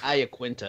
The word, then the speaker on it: Iaquinta: pop in you've got a la quinta I do you think Iaquinta that's how the user said on the broadcast I have been and